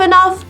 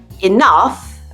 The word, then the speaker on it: enough: But anyway, that was a good example to show you that tough, enough, and rough, which means not easy or smooth, are all pronounced like uff.